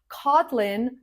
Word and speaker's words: Kotlin: Kotlin, just like the island Kotlin, the stress is on the first syllable.